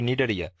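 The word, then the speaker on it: Cnidaria: আর আই তাতে এখানে সির উচ্চারণ হবে না এখন উচ্চারণ হবে নিডারিয়া নিডারিয়া পর্বের সকল প্রাণী গয় নাম্বার অঙ্গতন্ত্র মাত্রার প্রাণী বা organ system level of organisation.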